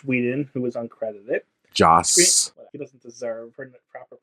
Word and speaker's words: Joss: So, the original Justice League movie was directed by Zack Snyder and Josh Whedon, who was uncredited. Joss. He doesn't deserve proper pronunciation anyway.